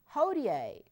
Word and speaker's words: hodie: Hodie. Hodie simply means today. It kind of rhymes. It doesn't look like you pronounce it that way, but that's why you're saying it.